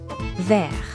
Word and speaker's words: vert: The pronunciation changes, too. Vert verte. That final t becomes audible in the feminine.